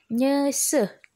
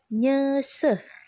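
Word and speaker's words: nyeuseuh: nah bahasa Sundanya adalah Nyesel ya ingat kalau ada edan u dibacanya jadi kayak orang sendawa yah berarti nyesel kemudian yang selanjutnya yang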